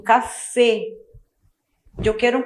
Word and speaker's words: café: A letra E tem um sonzinho fechado. Então, eu pronuncio café. Eu quero um café.